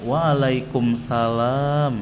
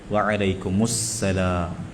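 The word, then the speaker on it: وعليكم السلام: Tiayib jawabnya bukan waalaikumsalam lah. Waalaikumussalam. Waalaikumussalam. Antum fasih-fasihkan ya. Karena lidah itu kefasihannya butuh latihan.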